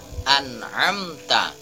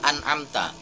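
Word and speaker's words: أنعمت: nya tanpa adanya dengan artinya cara membacanya and hamta tidak boleh an amta atau an amta tidak boleh itu kesalahan dalam membaca surah al-fatihah dalam kata-kata an'amta tetapi yang benar an amta langsung saja diselesaikan Anam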